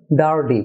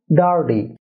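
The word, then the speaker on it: dirty: থাকে অর্থাৎ ডি উচ্চারণ হয়ে থাকে তাহলে এটার উচ্চারণ হবে ডার্ডি প্রশ্ন হতে পারে আর এবং ওয়াই তো ভাওয়েল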